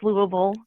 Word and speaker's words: Louisville: So I am from Eastern Kentucky and did my undergraduate at University of Louisville and yes it's Louisville.